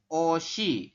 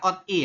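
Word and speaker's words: 옷이: Maka kita bacanya seperti ini. Oshi. Seperti itu. Kalau latinnya ya kayak ini langsung. Oshi. Bukan ot-i ya. Kalau Anda bacanya ot-i itu salah, teman-teman.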